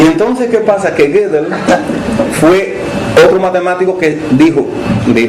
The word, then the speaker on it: Gödel: ¿Saben cómo se pronuncia eso? Gödel, no sé, bueno, yo digo Gödel porque tiene una O metida ahí, pero algunos dicen Gödel, no sé, sabrán de dónde la sacan.